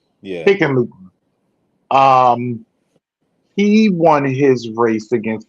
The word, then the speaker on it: Hickenlooper: The incumbent Senator John Hickenlooper, how do you pronounce that? Hickenlooper. Yeah. Hickenlooper.